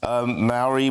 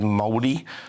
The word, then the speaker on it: Māori: They are using native and Maori. We say Maori, but actually the correct pronunciation I'm told is Māori.